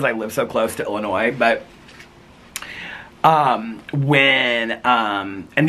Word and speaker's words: Illinois: me crazy it's like when people say Illinois with an s on the end of it they say Illinois I'm like it's Illinois that's like one of my